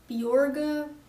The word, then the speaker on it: Bjorge: It's supposed to be pronounced Bjorga, but it's too hard for Getting people Americans to say Bjorg.